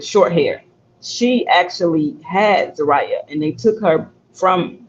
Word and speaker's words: Zariah: I was pronouncing her name wrong but it's Zariah.